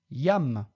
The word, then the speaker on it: iam: Litera J, pronunciatur je. Yam.